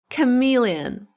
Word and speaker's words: chameleon: It is chameleon.